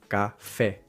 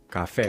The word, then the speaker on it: café: we say this word, we apply the English sound from cafe, cafe, rather than saying the Spanish café, café, Ca- café.